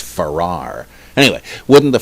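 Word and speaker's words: Farrer: drives me crazy that you spell it f-a-r-r-e-r but i believe it's pronounced farrar anyway wouldn't the ferrar hypothesis currently argued by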